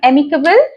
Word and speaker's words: amicable: हमारा third one है एमिकेबल। देखिए AMICABLE, जैसे एम प्रोनाउंस करते हैं ना वैसे ही एमिकेबल।